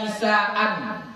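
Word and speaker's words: نساءَ: Nah, apa bacanya? Ya Nisa'u, ya Nisa'a, ya Nisa'an. Yang mana yang benar? Nisa'a.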